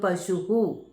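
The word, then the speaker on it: പശുഃ: ഉകാരം പശു എന്ന് പറയുമ്പോൾ പശുഹു.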